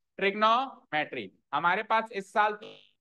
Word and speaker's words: trigonometry: तो हम कैसे बोलेंगे इसको? ट्रिगोनोमेट्री। कैसे बोलेंगे? ट्रिगोनोमेट्री, ट्रिग्नो नहीं, ट्रिगोनोमेट्री।